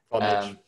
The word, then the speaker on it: Vonage: And currently works at Vonage, I think that's how I pronounce it. Vonage.